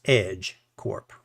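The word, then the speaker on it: EJ Corp: They all work for a corporation called the Virginia Jameson Corporation, aka EJ, and it's pronounced Edge Corp, or just the company.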